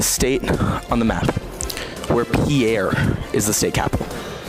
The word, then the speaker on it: Pierre: on the map where Pierre is the state capital first of all it's pronounced pier and that would be